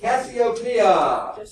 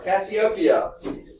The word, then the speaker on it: Cassiopeia: Cassiopeia or Cassiopeia. Okay, I'll spell it for you.